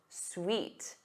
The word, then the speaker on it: suite: But the other word is pronounced suite. Suite.